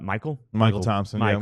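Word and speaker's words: Mychal Thompson: And Michael Thompson. Michael, but it's spelled, Michael Thompson just came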